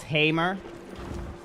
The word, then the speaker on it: Hammer: You keep saying my name my last name wrong. It's Hammer Hammer.